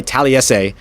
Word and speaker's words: Taliese: they found him in Taliese Fuaga, which, by the way, Talese is the name, Fuaga with a light N sound at the end there.